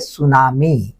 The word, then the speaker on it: tsunami: इटकला पिटुकला concept म्हणजे सुनामी ना spelling पहा तुम्ही कस लिहिला जाते टी एस य एन एम आय त हा सायलेंट आहे तर सुनामी काय आहे